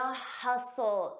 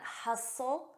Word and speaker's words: hustle: The hustle and bustle. Notice that T is silent. Hustle and bustle.